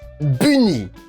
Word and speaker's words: Bunny: Prononcé bien à la française, donc Bunny.